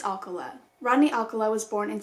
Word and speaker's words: Alcala: apologize for that but i believe it's alkala rodney alcala was born